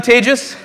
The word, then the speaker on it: Tejus: excellent an introduction i'm tejus as they've said i won't say too much i tell this to white people you pronounce it like contagious um to be fair